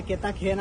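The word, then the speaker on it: Cartagena: या जागाना नाव आहे केताखेना आणि हायबी जागा स्पेन या देश आहेत केताखेना आणि स्पेलिंग आहे म्हणजे स्पॅनिश भाषा मायमुळे स्पेलिंग अलग आहे आणि उच्चारण अल्लक आहे तर तुम्हाला दिस निश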